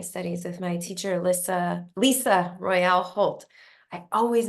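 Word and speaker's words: Lyssa: got to know her her name is spelled l y SSA and so in my head I pronounced it differently than it sounds and I just can't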